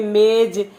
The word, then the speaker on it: मेज़: क्या हो जाता है इसके उच्चारण में थोड़ा सा अंतर आ जाता है जैसे हमने वैसे तो हम पढेंगे मेज लेकिन यह बढ़ गए तो मेज़ आपकी आवाज अच्छी थोड़ी